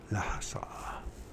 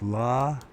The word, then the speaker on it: Lhasa: Lhasa. Lhasa, So it's not, the H is silent. So it's La, Lhasa, Lhasa.